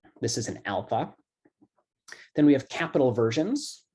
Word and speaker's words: alpha: how it's pronounced so it's pronounced like ah as in father so you pronounce the word alpha alpha okay um the next